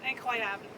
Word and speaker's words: incroyable: How do you say incredible in French? Isn't it like incredible? Incredible. Incredibly. Incredible. No, incroyable.